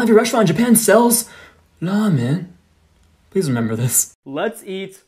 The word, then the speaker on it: ramen: It's not pronounced ramen. So when you go to Japan, don't go into restaurants saying, could I get some ramen? It's actually pronounced ramen.